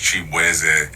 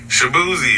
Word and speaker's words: Chibueze: I'm Nigerian American, so my last name is actually pronounced Chibueze. And just growing up in Virginia, like everybody just did not know how to enunciate my name. So they was just like, Shabuzi, and I was like,